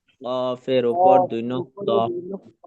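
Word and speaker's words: ق: সকলে একসঙ্গে একবার বলবেন কফ জিবার্বার ধাক্কাকে মোটা উচ্চারণ হবে মোটা উচ্চারণ এবং চালি টানতে হবে শেষে ফা উপরে লাগা নিচে পেটে লাগবে বাতাস বের হবে কফ কয়টি নক্ত?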